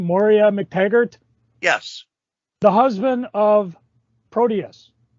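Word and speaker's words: Moira MacTaggert: Moria McTaggart?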